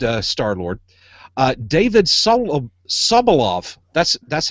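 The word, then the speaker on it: Sobolov: be a good uh Star-Lord uh David solo subalov that's that's how you pronounce his name a lot of O's in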